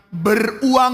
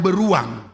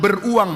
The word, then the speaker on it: beruang: dan berkata alangkah sukarnya orang yang beruang ya bukan beruang harus tepat bacanya ya alangkah sukarnya orang yang beruang maksudnya orang kaya sukar